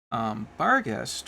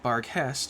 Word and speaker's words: Barghest: As you may have heard me say last week, Bargest, or Barghest as the German pronunciation, actually means house ghost in German.